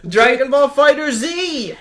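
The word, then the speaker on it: Dragon Ball FighterZ: when I saw this written out, because it's Dragon Ball, it's the word fighter and then the Z. Yes. I assumed that it was Dragon Ball Fighters. Yes. And because it's Dragon Ball Z, they replaced the S with a Z.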